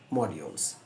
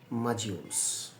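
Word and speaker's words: modules: করবেন আমি ভেঙ্গে দিব ম ডি ওলস মডিউলস এটা হল ইউকে উচ্চারণ আর আমেরিকানরা বলবে মাজিউলস দমটা আমি দিচ্ছি তার কারণ আমরা বলি এবিটা বলে ও আর আমেরিকানরা এটাকে একটা অ শব্দ টানে মাজিউলস কথা ক্লিয়ার দুইটা উচ্চারণ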